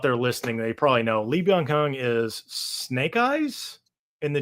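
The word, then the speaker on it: Lee Byung-hun: Lee Bang Hung. So for the people out there listening, they probably know Lee Yong Hung is Snake Eyes in the G.I.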